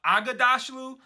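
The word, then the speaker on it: Aghdashloo: So he said Agdashlu, which there is no A after Ag, so I'm just going to say Agdashlu, but I'm pretty sure that's how it's said.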